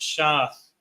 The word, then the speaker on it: Seth: common in that time Seth is pronounced shath shath in in the lashan quash keep going verse four